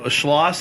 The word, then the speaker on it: Schloss: We have on Schlosss. Is that how you pronounce it?